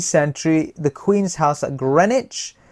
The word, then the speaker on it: Greenwich: 17th century, the Queen's House at Greenwich. The W is silent, it's Greenwich.